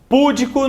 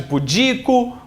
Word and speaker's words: pudico: Silabada, erro de pronúncia contra a acentuação da sílaba tônica. Então, púdico no lugar de pudico, rúbrica no lugar de rubrica.